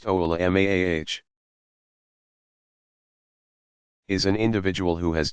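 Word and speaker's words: علماء: An alim, pronounced a'lim, commonly used singular of ulama, pronounced oulamaah, is an individual who has done extensive study of the Quran, tafsir, exegetical commentary, and hadith, for starters.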